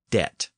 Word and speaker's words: debt: during this period so the word debt did not have a b in it during During the period